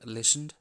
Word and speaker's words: listened: these words want listened the silent letter in this word listened is tea we have the dry